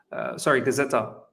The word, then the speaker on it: Gazzetta: Gazzetta. Is that how you pronounce it?